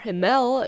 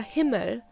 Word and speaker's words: Himmel: Der Hemel is actually pronounced der Himmel, der being a masculine pronoun, and Himmel being a masculine noun, meaning sky or heaven.